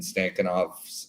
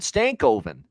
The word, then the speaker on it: Stankoven: may end up doing come on Matt we got to get you to pronounce that properly he's on your team for crying out loud stankoven there you go stankoven sorry he's on